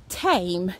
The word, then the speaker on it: Thame: from samara's church in tame t-h-m-e i think it's pronounced thanks guys